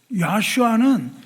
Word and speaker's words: 야슈아: 야슈아는 예수와 동일한 이름이라고요. 예수 쓰는 헬라식 발음이고요. 야슈아는 히브리식 발음이에요.